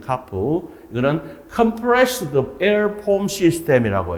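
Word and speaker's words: CAFS: 자, 먼저 압축 공기포가 뭐냐 하면 영어로 줄이면 CARP라고 읽습니다. CARP.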